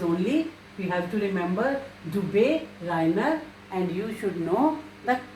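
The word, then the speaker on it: Döbereiner: It is only we have to remember Dubé Reiner, and you should know the correct spelling. Dubé. If umlaut U is there, it is pronounced as U. Dubé Reiner.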